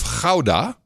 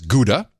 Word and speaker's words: Gouda: I should say this the city of howdah in the Netherlands you might pronounce it as Gouda it's where the cheese